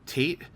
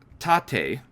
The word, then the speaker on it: tate: you know the long way I called it Tate um and apparently that was very wrong what a shock I mispronounced something um uh and according to the